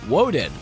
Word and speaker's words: Odin: through a Greco-Roman lens Odin was sometimes pronounced woden and to honor the